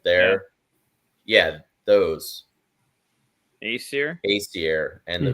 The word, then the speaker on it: Aesir: It's like, I don't know how to pronounce anything, but it's like Aesir and then the Vanir, like there. Yeah, those. Aesir and the Vanir.